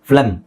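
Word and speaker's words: phlegm: ಹಾಗೆ ಇಲ್ಲಿ ನೋಡಿ PH ಉಚ್ಚಾರಣೆ FLEGM, ಫ್ಲೆಮ್.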